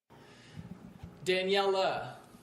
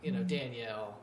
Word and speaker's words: Daniela: Daniela. Yes. Because at first I was saying, Danielle, which I'm sure you've probably grown up with a little bit, but so much.